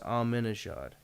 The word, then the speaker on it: Ahmadinejad: Yeah, but there's no Ak in there. It's just Ahmadinejad. It's how it's pronounced.